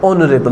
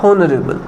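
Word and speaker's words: honourable: Sound ओ से हम इसको प्रोनाउंस करते हैं। ऑनरेबल नॉट होनरेबल।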